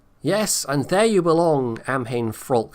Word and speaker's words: Amhain: Apparently it's Amhain, by the way. I was saying it wrong the first couple of times.